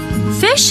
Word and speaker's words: phish: Fish is pronounced just like it's spelled, which is to say like the word fish.